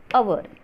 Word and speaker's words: hour: It is a silent H. So we use an before hour.